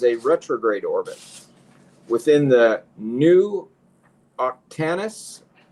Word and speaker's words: Nu: It's just it's spelled NU, so we're pronouncing it new.